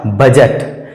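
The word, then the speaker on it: budget: ईटी बी यू डी जी ईटी इसका सही उच्चारण हो जाएगा बजट बजट आगे है बी आर आई डी जी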